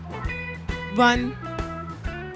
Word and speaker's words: one: चले मैं आपको बता दूं 1। लाइक दिस इज सो ठीक है। 1 प्रोनाउंसिएशन भी से होती है।